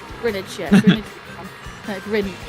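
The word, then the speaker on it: Greenwich: It's Grin Well, we sort of pronounce it Grinage or Grinidge. Yeah, like like I like spinach. Spinach nice.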